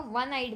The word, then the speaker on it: one-eyed: First one is I saw a one-eyed man. Here o is a vowel, but vowel sound is different, that is v. So sound is different, it is v, which is consonant sound.